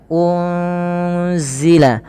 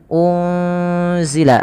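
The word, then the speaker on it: أُنْزِلَ: dengan huruf Zai Apabila ada nun sukun bertemu dengan huruf Zai ini cara membacanya adalah nunnya disamarkan kepada huruf Zai ya unzila unzila sembari ditahan dengan dua harakat bunyinya dan ini kita kenal dengan bacaan Ikhfa Hakiki kemudian ilaina W unzila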